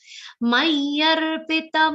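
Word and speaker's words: मय्यर्पित: Mayarpita, the should be complete, not mayarpit mano buddhi. Many people say mayarpit mano buddhi. That's wrong.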